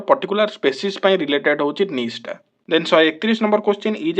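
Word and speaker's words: niche: एटा नीचे बोली पड़बो ना, एटा होची नीश, ता उच्चारणटा होची नीश।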